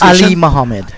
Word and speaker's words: Ali Mohammed: But you want to tell, the first thing you need to do is let Ali Mohammed know that is that the correct pronunciation? Yes, Ali Mohammed.